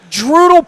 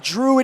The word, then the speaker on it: Druid: know where it is it's dral Park if you say it right and Druid Hill if you say it wrong what's that big construction